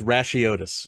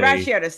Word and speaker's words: Racheotes: And my last name is pronounced Racheotes. It is a Racheotes, thank you. classic Americanization of a Greek or, a foreign name.